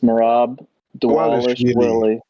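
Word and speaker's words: Merab Dvalishvili: No, the V's are pronounced like W's. We're I learned this, you know, somewhat recently, but yeah, it's it's Morab Dwish Willy.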